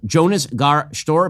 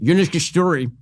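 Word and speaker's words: Jonas Gahr Støre: How could, in Norway, the Norwegian prime minister whose name is spelled Jonas Gar Stor, but is pronounced Jonas Gestori. I looked it up last night. I'm still mispronouncing it, but it's closer to the latter than the former.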